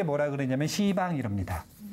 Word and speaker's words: 시방: 이걸 한마디로 표현할 때 뭐라 그러냐면 시방 이럽니다. 발음을 잘 하셔야 돼요. 시방. 원래는 십방인데 십방 그러면 발음이 더 이상하잖아요. 조금 더 어렵네요. 그래가지고 십자 이거 뺀 거예요.